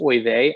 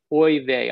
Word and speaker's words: oy vey: studio and he's like boy they i'm like no no that's not how you say it it's oy vey like or oy vey or like i gave